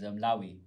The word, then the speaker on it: Loewe: The one designer I like really recently is Lawi. Lawi? Yeah. Loewe.